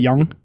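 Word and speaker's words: Nyong'o: and the O is silence so it's Lupita young yeah she just wants to have something creative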